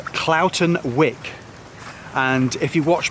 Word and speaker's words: Cloughton: But Cloughton, to me, is spelt Cloughton. From my experience with places like Grindsbrook Clough in the Peak District, that's how it's pronounced, Clough, but no, Cloughton.